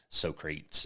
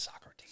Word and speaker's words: Socrates: from like Aristotle and Socrates and all those I know it's Socrates Socrates yes but but I say it I say like it's spelled okay so and as